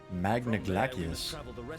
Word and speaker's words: Magna Glaciers: Magna Glaciers. Oh, I guess it is Latin pronunciation.